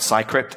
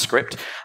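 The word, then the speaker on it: Cycript: got a ridiculous name it's not Sai crypt it's called pronounced script and the premise is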